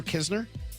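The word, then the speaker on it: Knizner: Andrew Kisner? Yeah. K N I Z N E R. The N is silent, not the K.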